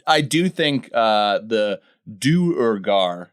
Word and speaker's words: Duergar: butchering it over the years and just said dger but it's one of those things where uh